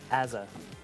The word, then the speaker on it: AZR: It's Azza. It's AZR to me. It's Azza. It is what I say it is. It's AZR. Some of our European code talent are not going to appreciate that mispronunciation.